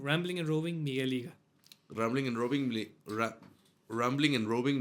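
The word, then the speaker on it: Rambling and Roving: todas las redes como rambling and robing rambling and robing Miguel liga rambling and robing rambling and robing migel liga Ram bling Ram bling como bling bling pronunciación and roving con v Okay aquí lo dejamos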